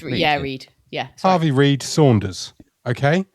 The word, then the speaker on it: Read: Harvey Saunders' full name is Harvey, and I'm gonna go with Reed, but it's spelt Red, R-E-A-D. Yeah, it's Reed.